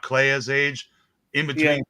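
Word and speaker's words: Kleya: honest like right not claya's age in between Playa and yeah you're the one that rhymes with Leia like so yeah it'd be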